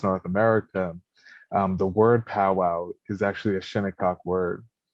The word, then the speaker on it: powwow: for the leader of ceremonies and the correct pronunciation is paul wall and so that's where um the word pow-wow